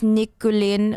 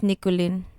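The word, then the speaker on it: Никулин: It's Nikulin, not Nikulin. Nikulin. Nikulin and Mironov.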